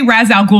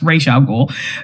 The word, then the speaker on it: Ra's al Ghul: Well, they say Ra's al Ghul in the movie, but it's pronounced Ra's al Ghul.